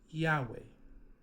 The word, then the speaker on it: Yahweh: We know Wav is a W because ancient Hebrew did not have a V, that is a recent creation. And we know letter He is letter He, right? Yahweh.